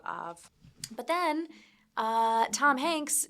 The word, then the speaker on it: Ove: I brought a man called Ov. I think it's pronounced O. No, actually, it could be, but I've been saying OV the whole time, and I'm sticking with it.